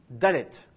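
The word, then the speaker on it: דלת: celle-ci c'est quelle lettre dallette le dallette est également concerné par ce phénomène s'il a un point dedans il est prononcé de façon occlusive de si il n'a pas de point dedans et avec éventuellement un RAF au-dessus il est prononcé de façon fréative alors ça donne quoi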